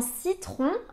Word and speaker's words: citron: fois ça fait le son e citron dans citron à la fin on a le son h